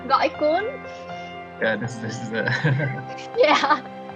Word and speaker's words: Gỏi cuốn: I don't know how to pronounce this, but it's called like goi quan. Yes. Gỏi cuốn.